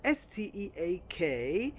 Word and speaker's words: steak: S-T-E-A-K is pronounced steak and is a piece of meat that many people enjoy ordering at the restaurant.